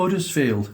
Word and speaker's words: Huddersfield: actually do I'm from ERS field yeah don't forget the sound the land of the silent h we don't pronounce our hes no no you so you're born in Huddersfield you you brought up